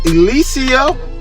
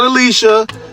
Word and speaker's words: Alycia: Miss Claressa Shields facing off with Miss Alycia. Yes, Alycia. Not Alicia, not Alila, or Aaliyah, none of that.